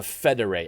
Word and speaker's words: Fédérés: And history has collectively called them by a name, the Fédérés, F-E-D-E-R-E. There's some French accent thingies in there, but that's how you spell it, F-E-D-E-R-E, the Fédérés.